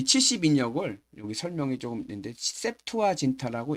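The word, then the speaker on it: Septuaginta: 여기 설명이 조금 있는데 세투아 진타라고 읽어요. 세트화 진타는 라틴어를 70이란 뜻입니다. 영어로는에 A만 빼면 됩니다.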